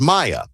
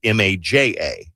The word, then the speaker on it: Maja: And this came from a woman who I know her name is Maya, but her mom and dad spelled it M A J A. Now, I'm not saying that that's spelled wrong because I think in in Spanish that would probably be the correct way to say it. But in her entire life, she's gotten maja.